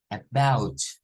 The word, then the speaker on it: about: pronunciación de ella no no es con a es con shua esta es un shua y luego vean que esto no se pronuncia como ou no es AB no es about el diptongo o u